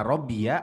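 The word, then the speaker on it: ربي: Robia tuh kalau disambung ya, kalau nggak disambung bacanya Robbi.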